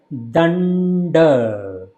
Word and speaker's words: Danda: So first D is pronounced by taking the tongue in between teeth, and second D is pronounced by taking your tongue to the hard palate. So it will sound like Danda, not Danda or Danda.